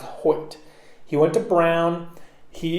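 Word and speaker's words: Hoecht: h OE CH T like poet but it's pronounced Hoyt he went to brown he is 6 for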